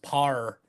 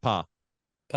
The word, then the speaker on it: Pa: say it there you're you're putting an r at the end par P yeah P so you say it once how do you say it right p p yeah p p and